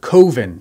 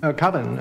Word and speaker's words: Coven: a short film called koven coven that's the proper pronunciation no no coven sounds like Oven Man and that's just it doesn't work Mark borchard's goal is